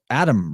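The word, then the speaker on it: Atum: shitload of them was Adam raw spelled atem but pronounced almost exactly as Adam uh proving quite well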